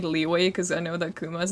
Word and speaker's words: Liyue: I legally have to say it like Leeway because I know that Kuma's in chat.